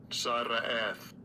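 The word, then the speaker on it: צרעת: I believe it's pronounced sarat. Okay, sarat. Here. Okay. Psalms H 6883. Sara'ath. Oh, sara'at. Sara'ath. That's how this guy says it. That's how Strong's pronounce it. Sara'at. You gotta roll the R.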